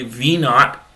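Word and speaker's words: v₀: got an initial velocity v naught meters per second um that's pronounced v naught when you see that v underscores zero um and in generally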